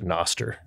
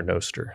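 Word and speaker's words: Nostr: an early adopter to Noster or noer yeah however you want to pronounce it I think I say Noster yeah and if it's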